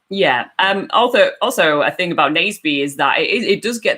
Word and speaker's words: Naseby: It's Naseby, not nasty, and you forgot an E.